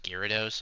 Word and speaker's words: Gyarados: But like it's pronounced Gyarados.